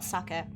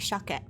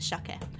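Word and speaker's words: 鮭: It's not sucket. It is in fact shake. Um, even though it is written as sake, it is pronounced shake.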